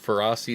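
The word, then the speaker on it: Ferroseed: It's more like ferocious.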